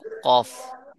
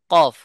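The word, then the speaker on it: قاف: তো আমরা এখন শিখবো কফ কি শিখবো কফ কফ কোথা থেকে উচ্চারণ হয় সেটা শিখবো দেখবেন এই চারটি এই পাঁচটি স্থানের ভিতরেই থাকবে যেমন কফের মাখরাজ হলো জিহ্বার গোড়াকে নরম তালুর সাথে লাগাইয়া জিহ্বার গোড়া কোথায় লাগবে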